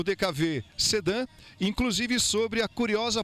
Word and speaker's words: DKW: No Brasil não pronunciamos DKW. O carro ficou conhecido como DKV pela sonoridade da letra W no país em que a fábrica foi fundada.